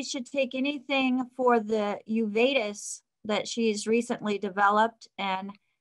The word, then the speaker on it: uveitis: weight three twice a day the uveitis is pronounced correctly uveitis okay is the sort of place in the